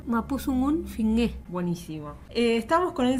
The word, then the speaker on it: mapuzungun: de weitra un habla el mapuzungun que se pronuncia mapuzungun buenísimo Estamos con el